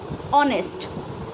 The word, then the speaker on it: honest: We can say honest. Now honest, here H is silent and the sound of O is coming.